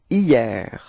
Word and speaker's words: hier: Okay, so it's quite funny because actually it does start with a H, but then in French we don't pronounce H, so we've got the sound hier, hier.